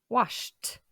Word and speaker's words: washed: It washed. Le dernier son est le son sh. On prononce donc t.